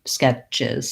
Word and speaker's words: sketches: ch sketches and then any word that ends in ch when we make it into the verb form or the plural that has the es ending is going to have and a z sound at the end chiz skip sketches sketches so lax and short on that sound and then voiced she sketches uh she sketches the tree she has many sketches for sale yeah okay thank you